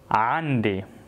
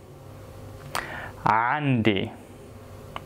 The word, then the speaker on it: عندي: in Arabic, I say عندي. عندي. Now it's very important here to pronounce the letter عين correctly. So عين, it's a throat letter. So when you say عندي, you stress in your throat.